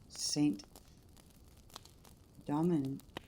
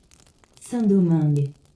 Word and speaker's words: Saint-Domingue: religions with them, and the French colony of Saint Domingue, I don't know how you say that.